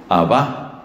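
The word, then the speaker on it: Abbá: padre lo llamaba abajo abajo parece que la pronunciación más probable es con ese acento al final abajo qué quiere decir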